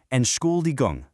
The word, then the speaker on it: Entschuldigung: Break down this long word phonetically, Entschuldigung. Think of the English word school right smack in the middle. Suddenly, Entschuldigung becomes entirely manageable.